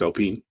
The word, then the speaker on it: Alpine: Yeah, but it's pronounced Alpine.